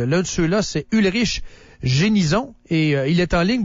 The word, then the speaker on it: Genisson: je prononce votre nom génison ou Génisson ah on pouvez le faire à la française gén ou l'américaine jenison jenison ok qu'est-ce que vous